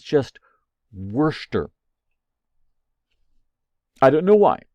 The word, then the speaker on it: Worcester: okay this word uh w-o-r-c-e-s-t-e-r it looks like Worcester but it's just Worcester I don't know why it's a it's pronounced Worcester in fact you can go to